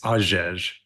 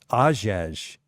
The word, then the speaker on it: Hagege: yeah, so if you want to get real technical, the H is silent. So it's Hagege. Ajej. Hagege, yeah. Okay. Ajej.